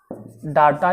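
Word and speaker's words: data: आंकड़ा, आंकड़ा को इंग्लिश में बोलते हैं डाटा या डेटा, दोनों। प्रोनाउंसिएशन में आंकड़ा को आप डेटा भी डाटा भी दोनों कह सकते हैं।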